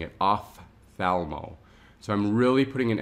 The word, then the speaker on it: ophthalmo: work will pronounce it op thalmo so they'll actually pronounce the p but the p is silent when it's combined with that h so it actually makes the f sound off thalmo so when